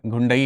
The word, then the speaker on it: घुंडई: इसके अलावा देह, इसके अलावा मोरास गुंडई, गुंडई, गुंडई नहीं है, घुंडई है, घा है, मतलब गा और घा का गुंडई ऐसे करके आप देख सकते हो।